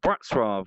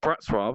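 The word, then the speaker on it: Wrocław: to a place called black Straub which is spelt Wroclaw which was very weird a place called brats robbed and I was there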